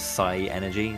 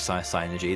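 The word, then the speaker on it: Psynergy: But synergy is the magic in this world, or you can pronounce it synergy if you want, but I've always read it as psy-energy, so synergy.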